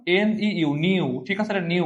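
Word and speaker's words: ν: এটা কেমন উচ্চারণ, NEU, নিউ, ঠিক আছে, এটা নিউ উচ্চারণ, ঠিক আছে।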